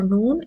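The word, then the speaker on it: نون: So the phonetic rules for noon is, as in English you say N, the same sound is with noon.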